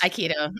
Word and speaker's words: Aikido: And I actually want to transition again because I know that you do a Aikido. Is it pronounced? Aikido. Mhm. Aikido.